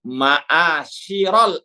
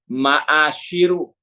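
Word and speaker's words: مَعَاشِرَ: Sebagaimana kata Rasul, contohnya nahnu ma'asyiral anbiya. Kalau orang yang baru belajar mungkin bacanya nahnu ma'asyiru, dikira mubtada khobar, padahal bukan. Nahnu ma'asyira dengan fathah, roknya ma'asyira, bukan ma'asyiru.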